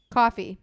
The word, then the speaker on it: Kofi: defeating Wesley and Joe Kofi coffee coffee it's not spelled like coffee all right but what